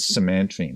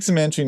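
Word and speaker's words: cymantrene: a name to it, which is simantrene, which is just like pronouncing out, it's really funny, simantrene. Right, so that's just from making a word from CMT. Okay, so you take cimantrene and you can put it into almost any solvent.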